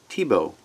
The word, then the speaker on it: Thiebaud: name is Wayne Tebow here's his name Wayne th ie BAU d T Bo I know it doesn't look that's the way you pronounce it but it is and he's